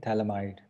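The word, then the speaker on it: phthalimide: यहाँ पर P silent है सब में, क्या मिला हमको? थैलामाइड।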